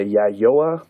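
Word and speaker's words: Yayoi: anyways moving on in uh and I can't pronounce this word the yayoa period y-a-y -a-y-o-i so yeah yo a period which is 300 BCE to 380 or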